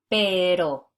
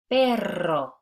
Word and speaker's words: perro: So notice the difference between these two words that look very similar. Pero, perro. Pero, perro. The first one means but, B-U-T, and the second one means dog, D-O-G. So you can see how different it is when you get into the trill and the different meaning that it would have in a sentence and the importance of why